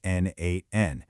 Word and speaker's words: n8n: When we say n8n, and yeah, that's pronounced n8n, we're talking about a workflow automation platform.